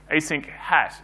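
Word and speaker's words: asynchat: So in 1999, Python 1.5.2 shipped with these modules called async core and async chat, or async hat if you pronounce the single C.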